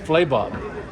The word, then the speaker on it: Flabob: neat and the and the airport's pronounced fly Bob Flay Bob and it's named after Fabio and Bob and they were they